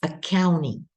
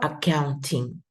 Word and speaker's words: accounting: the first one is accounting or accounting you can pronounce the T or you can eliminate the T because there's an N